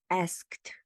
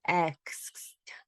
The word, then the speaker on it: asked: television saying i asked why do people mispronounce asked they say i x i don't understand because the a is followed by the s and the k e d so i don't understand why people say it i asked so you